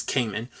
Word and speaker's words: Cayman: same with uh Cayman I think I pronounced it like common last episode but it's Cayman um I think almost I